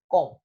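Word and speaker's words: comb: In the monosyllabic word you can say com, so com, the structure of the syllable is CVC, ka, or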